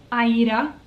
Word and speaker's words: Aida: crostich recently talked about the pronunciation of ada actually being aida that was how the original manufacturers in the 1800s pronounced and jean farris has talked about that more than once on her channel and she always says aida i do prefer to say aida as well i'm hopping on